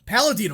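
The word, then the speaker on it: Paladino: Palladino, that's how you say it, hopefully, don't sue me.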